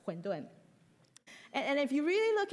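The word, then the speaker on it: 混沌: Mandarin, you would know, huǔndùn is the same pronunciation as primordial chaos, huǔndùn.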